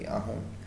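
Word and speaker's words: Auðun: Ahdun Aun. It's a person in Iceland, so the pronunciation is going to be Ahun.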